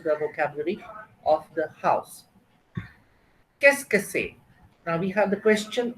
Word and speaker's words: Qu'est-ce que c'est: Now the question that you see in the box on top is pronounced as qu'est-ce que c'est?